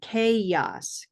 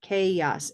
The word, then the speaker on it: chaos: you listen to it, we, for example, don't really tolerate saying chaos or chaos. We have to come up and have this sound, chaos, chaos, and oasis. Oasis.